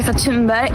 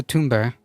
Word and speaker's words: Thunberg: and I am Greta Tunberg. It almost sounds like she's saying Tumbberry. Donald Duck. What's the difference between a banjo and an accordion? The banjo burns longer. He is gross. It's basically pronounced tombberry.